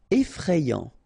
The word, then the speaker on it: effrayant: Effrayant, okay, so final T not pronounced, and then you get effrayant, okay, effrayant. Gelé.